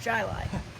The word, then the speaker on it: Chili: that including one called chili spelled chili but pronounced jilai which i learned the hard way as we